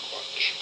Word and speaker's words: Quach: It's a re-interview with witness Quach. That's how you pronounce it. Quach.